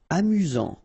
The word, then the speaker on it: amusant: Amusant. Final T not pronounced. You've got only one S here between the vowels, so it's really this Z sound.